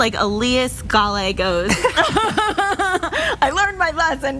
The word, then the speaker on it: Elias: Okay, so he tells me, think of Aaliyah and just add the sound at the end. Elias.